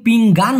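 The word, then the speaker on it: pinggang: এখানে ন হতো, সাকিত পিং গান হতো, সেটা আবার কিন্তু আলাদা। পিঙ্গান হলো থালা, যেটায় আমরা খাবার খাই আর কি, আর এটা হলো পিং গাং, অনেশ্বর। হ্যাঁ, ওই যে গাংচিল যেরকমটা উচ্চারণ করি।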